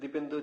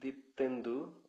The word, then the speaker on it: দীপ্তেন্দু: দুঃখিত দীপেন্দু ভাই, আমি আপনার নামটা ভুলভাবে উচ্চারণ করেছিলাম। আমি পরে আবার ঠিক করে নিয়েছিলাম, দীপেন্দু। আহ, দীপ্তেন্দু দীপ্তেন্দু ও আচ্ছা, আমি খুবই দুঃখিত। দীপ্তেন্দু, আমি সাধারণত দীপেন্দু নামটা খুব প্রচলিত বলে আমি ভেবেছিলাম দীপেন্দু।